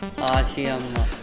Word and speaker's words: Ashiamma: Dude that's not Ashamma or Ammamma(grandmother) "Ashiamma" Alright then, learn this properly today At least say it properly tomorrow Alright bye.